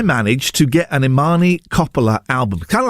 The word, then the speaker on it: Coppola: Although actually I think her name is pronounced Coppola. So I've been getting her name wrong this whole time.